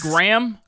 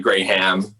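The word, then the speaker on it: Graeme: cool you said it's graham graham graham yeah yeah yeah it's it's like spelled differently it's about like g-r-a-e-m-e but it's pronounced the same way it's like gray ham gray ham okay hell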